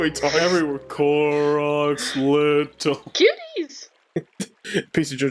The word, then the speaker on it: Koroks: Yeah, I said Kokoroks because I thought there was another K there. Koroks.